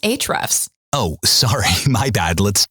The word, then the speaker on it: Ahrefs: listening to hre's podcast aev's podcast um it's actually pronounced HRS oh sorry my bad